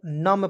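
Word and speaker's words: numb: एन यू एम बी तो इसे पढ़ेंगे दोस्तों नम पढ़ा जाए नम मीस होता है शून्य नम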